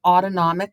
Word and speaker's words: autonomic: is part of the autonomic nervous system and when I was teaching itd say to the students think about that as autonomic s sounds like the word automatic it it turns itself on